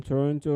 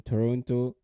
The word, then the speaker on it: Toronto: we start okay then uh um I mean Toronto right now or how they say it yeah